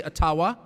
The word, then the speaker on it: Ottawa: It cannot be taken from you no matter who is in Ottawa or as we say Atawa which by the way is the correct pronunciation according to my friends in the Ajiua community.